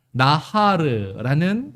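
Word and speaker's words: נהר: 지금 여기서 사용된 나하르라는 말이 있고 나할, 약간 발음은 비슷하지만 약간 달라요.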